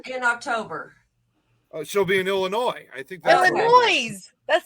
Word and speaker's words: Illinois: It's Illinois. The S is silent.